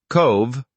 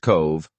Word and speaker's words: Cobh: Cobh, pronounced Cove, offers a deeply moving